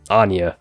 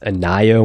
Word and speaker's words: Anya: Codename Anya. Thought it was supposed to be pronounced Anaya when I first read it, so if I slip up when talking, ignore that.